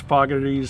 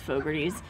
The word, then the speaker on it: Fogarty's: going is foggerties fogarty's faggotties we're having a little just um i won't say disagreement but we have a difference in opinion on how you pronounce that i'm fairly certain it's fogerty's um topographies but it's a